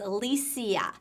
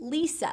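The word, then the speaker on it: Lesia: l-e-s-i-a so some people might think oh that's pronounced elysia but in reality she pronounced it lisa so if you're writing this on a television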